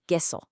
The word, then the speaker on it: queso: Now, in Spanish, the Q is pretty much always followed by a U, and together they make a hard K sound, like in the word queso, which means cheese.